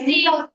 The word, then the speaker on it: receipt: Repeat receipt. Yeah. P is silent here. So, this is receipt.